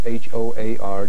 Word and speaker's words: Hoar: It's H-O-A-R. Joseph Hoar rhymes with roar.